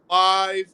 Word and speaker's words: LYVE: live outlets LYVE. Once again, that is spelled LYVE.